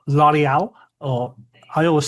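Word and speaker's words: L'Orignal: So, this is called Lial or I always say it wrong and say original and everybody always tells me off, but it's pronounced L'Oreal Jail.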